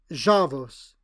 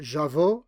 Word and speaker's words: Javos: He preferred Javos. Neither jao in the Andra style nor jaush as his jakari mother must have done.